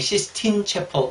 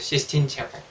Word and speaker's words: Sistine Chapel: 저는 사실 이렇게 시스틴이라기보다 시스틴으로 발음을 많이 했는데 이분은 분명히 Sistine Chapel 이렇게 했어요. Sistine Chapel.